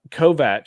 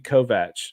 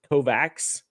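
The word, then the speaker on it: Kovacs: anyway what what kills me is um uh kovat t tekashi kovat that's how you're supposed to pronounce his name but whenever I hear it pronounced Kovac it's like takes me completely out because it's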